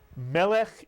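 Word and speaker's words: מלך: Again, it has a segol under the first letter. The accent is on the first syllable. Melech is correct.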